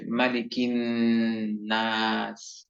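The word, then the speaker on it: مَلِكِ النَّاسِ: মধ্যে যেই শব্দটি রয়েছে এই শব্দটির উচ্চারণে কোনো টান হবে না।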